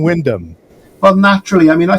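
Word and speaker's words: Wyndham: anyone say it so I was always saying Windham but now I'm G be saying Windom well naturally I mean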